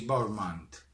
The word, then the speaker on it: Bournemouth: Si pronuncia così, Bournemouth.